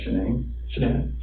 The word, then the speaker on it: Shanann: And I don't want to pronounce her name wrong, Shanann.